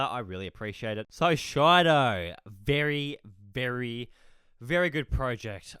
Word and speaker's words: Shido: Firstly, I just want to say thank you to this gentleman right here for teaching me how to say Shido properly. I was pronouncing it Shido yesterday, so my apologies for that.